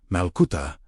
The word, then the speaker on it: malkuta: Then speak the Aramaic word malcut pronounced. Malcuta meaning the divine rain, the living presence of God within.